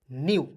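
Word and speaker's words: new: साथ क्या हो जाएगा एन ई डब्लू हो जाएगा दोस्तों न्यू अब आपको कमेंट करके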